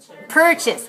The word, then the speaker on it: purchase: the next word is purchase purchase is a verb with two syllable stress the first one remember the second syllable is weak so er er purchase purchase and the next